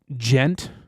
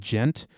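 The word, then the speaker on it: djent: It's just that, like, it's called gent. It's like a specific kind of metal called gent, which is, I think it's spelled D-G-E-N-T, I want to say. Maybe D-J, gent.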